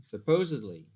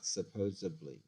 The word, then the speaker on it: supposedly: caller library now library supposedly not supposably and so it's a